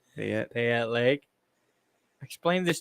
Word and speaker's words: Payette: I don't know how you guys pronounce it. Fuck. Pay it. Payette.